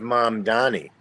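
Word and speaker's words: Mamdani: What do you think about the election of mom Donnie?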